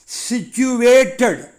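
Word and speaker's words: situated: இன்னொரு English word சிச்சுவேட்டட். இந்த வேர்டை உச்சரிக்கும் போது கவனமாக சொல்லணும். SICTUAV, சுவே, சிச்சுவே, அப்புறம் dead, சிச்சுவேட்டட். Example sentence, the school is located near the park.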